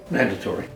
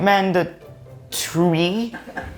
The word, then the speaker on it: mandatory: Wait, "manda tree?" Oh, I don't know. What would you say? "Manda - tory." Oh, right. Ok.